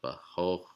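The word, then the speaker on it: בחכמה: So you see this syllable has a Kametz vowel, the T-shaped vowel, and it's pronounced ah. And let's go back. And the same word, it appears in the middle syllable and it's pronounced o. So bahochma.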